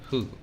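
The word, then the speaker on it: 負: That would be the kanji for lose, and it's pronounced who.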